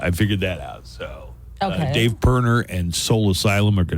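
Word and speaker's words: Dave Pirner: it's spelled but I didn't know how to pronounce it so Dave perner is uh I figured that out so Dave perner and Soul Asylum are going to be here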